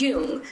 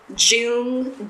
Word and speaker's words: Jung: to say correctly was, "It's pronounced yung to nearly every doctor who read my name off their list and left a slew of Jun Jung Jung."